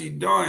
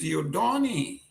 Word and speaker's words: Dodoni: His name is Dodoni." So I said, "What?" He said, "Yes. This is a classical French name is Dodoni. And if you pronounce it the way you pronounce it, then you are actually using profanity.